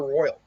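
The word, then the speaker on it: Roil: uh apparently it's called apparently it is called the royal i i would it looks like it's spelled roll but i guess it's the royal uh the if you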